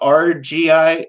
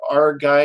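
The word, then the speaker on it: Argei: look up is called the rgi rgi or r guy it's spelled a-r-g-e-i and that will give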